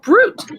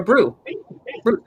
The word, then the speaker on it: brut: The word brut, B-R-U-T, which is that pronounced brut or brew? Brut.